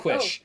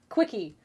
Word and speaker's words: quiche: read the word, I never had reason to pronounce quiche out loud, and I was Oh, like, quiche. oh, quickie Quickie.